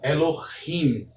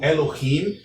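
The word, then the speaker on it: אֱלֹהִים: Então, Elohim possui duas sílabas, a sílaba tônica é a última sílaba e a anterior é a sílaba pretônica.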